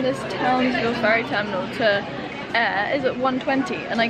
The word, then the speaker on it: Ayr: And yeah, so essentially I am in Air, as I said. A-Y-R is how you spell it, specifically Alva Beach.